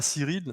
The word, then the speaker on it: Cyrille: originale à Cyril, c'est bien ça, hein, Cyril, c'est comme ça qu'on prononce. Oui, oui, oui, oui, oui, Cyril.